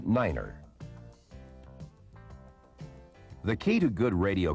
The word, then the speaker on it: Niner: to represent these letters 9 is the only number pronounced differently it is set as Niner the key to good